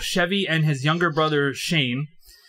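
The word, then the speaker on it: Cheyne: In 1988, his parents pulled both Chevy and his younger brother, Shane. That's spelled with a C-H-E-Y-N-E, not Shane with an S-H.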